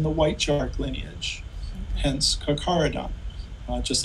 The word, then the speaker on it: Carcharodon: Isn't a megalodon's real name, and I may be mispronouncing this, but I would say Charkadon? C-H-A-R-C-H-A-D-O-N? Say it again correctly. Sure, Carcharodon. Carcharodon.